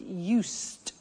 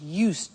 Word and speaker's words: used: speaking Italian every day listen to the pronunciation I said used with t sound used not use it or